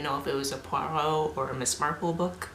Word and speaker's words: Poirot: reason, who goes by the name Mr. Porritt, and that's because everybody in town mispronounced it the first time, and Poirot is like, I'm retired,